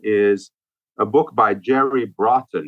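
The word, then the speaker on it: Brotton: out uh Stephen is a book by Jerry Bron it's spelled b r o t t o n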